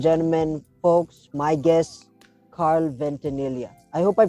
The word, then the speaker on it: Ventanilla: so ladies and gentlemen folks my guest Carl ventania I hope hope I pronounced it right yeah actually you did thanks